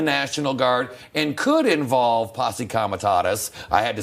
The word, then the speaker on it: Posse Comitatus: That's different than the National Guard and could involve Posse Comitatus.